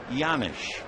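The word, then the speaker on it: Janish: Scott pedik can explain why the J sounds like a why it's a checkles Slovakian name the 1-1 pitch fouled away one and two the name is spelled j a n i h but it comes out yanish pnik has that extra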